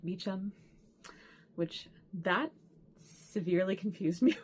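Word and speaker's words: Beauchamp: um bamp which uh apparently in English they pronounce it more like beam which that severely confused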